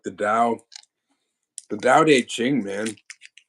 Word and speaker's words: Tao: easier okay but yeah the Dow Hing it's it's spelled ta a tao yeah I just looked